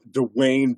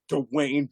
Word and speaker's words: Dwayne: Oh, Dwayne Johnson. What is that? I love how you hard hit that W. Dwayne. Dwayne. It's not one syllable. It's two.